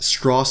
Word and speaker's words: Strauss: The reason why Louis Strauss, yes, Strauss is how you say it, hates Oppenheimer can be noticed throughout the movie time and time again.